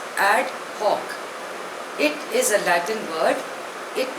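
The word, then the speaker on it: ad hoc: वी गो the first word is एड हक spelling इ एडी एच ओ सी pronunciation इ एड हक इट is Latin word it मीस for this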